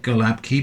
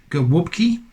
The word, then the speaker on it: gołąbki: doves because in indeed this word here which looks like galab key but is actually I believe pronounced now brace yourselves go whoopkey because of that Bard L character there is like a w sound and the a with the little cedilla is like a uh sound I think so whoop